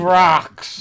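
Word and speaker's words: Brach's: Brock's. Yeah. It was from Mounds. Brock's. Anything from Brock's. Ugh. Like, it Ugh. rhymes with rock.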